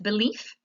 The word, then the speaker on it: belief: So the answer is the second syllable is stressed. Remember the schwa, you see that upside down E is in the first syllable. And when you see that upside down E, that means that is not a stressed syllable.